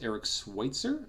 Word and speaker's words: Eric Switzer: It is, I believe, pronounced Eric Switzer from TheGamer.